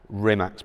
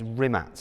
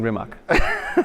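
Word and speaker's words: Rimac: on Bugatti products and rimax products yes I'm saying it kind of half correctly it's it's rimat isn't it rimat yeah it's a creational way of pronouncing rimat okay so tell me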